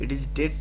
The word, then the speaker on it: debt: ये जो डेट लिखा होता है DEBT, इसका बी साइलेंट होता है प्रोनाउंसिएशन में। इट is date, total assets to डेट ratio.